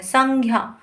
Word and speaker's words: संज्ञा: लेकिन हमारा जो हम ये बोलते हैं ज्ञ, हम इसको बोलते हैं संज्ञा। ग की साउंड निकालते हैं, ग की ध्वनि का उच्चारण करते हैं।